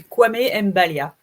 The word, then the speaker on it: Kwame Mbalia: C'est Kwame Mbalia. Comme ça s'écrit, ça se prononce.